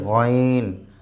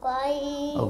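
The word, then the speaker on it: غ: গাইন যে কন্ঠনালী যে আমাদের রয়েছে কন্ঠনালীর শেষ থেকে গাইন বলো আইসা বলো গাইন গাইন আচ্ছা তারপর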